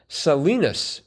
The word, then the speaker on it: Salinas: Salinas with an S is in California, and unlike its Kansas counterpart, is pronounced with a short I. Oops. Salinas.